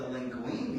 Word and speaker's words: linguine: do is make the linguine Bean out of that which it rhymes with zucchini okay zucchinis okay